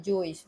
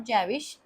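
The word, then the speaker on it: Jewish: okay we will बेटा pronounce it एज अ जइश word okay any एक कम उम्र की यहूदी लड़की थी जइश okay this pronunciation is नॉट जैविश जइश who become famous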